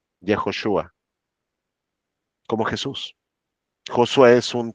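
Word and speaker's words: יהושע: Y ya vimos que Josué en hebreo, ¿cómo se dice? Jejoshua.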